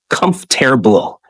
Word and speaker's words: comfortable: break words into syllables instead of struggling with comfortable say it like comforable exaggerate pronunciation speak slowly